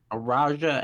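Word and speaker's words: Araújo: how do you say your last name araja araja and Natalie Silva looking at this one it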